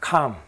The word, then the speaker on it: KHAM: KHAM이라 나오는데 뭐라고 우리가 읽겠습니까? 뭐라고 읽겠습니까? 그거를 한번 볼까요? KHAM, CAM입니다. CAM. CAM은 곰을 말합니다. 곰. 곰 문명이 있었다는 거죠. 이 CAM은 H가 없어도 이래도 CAM이 됩니다. 굳이 H 안 돼도 돼요.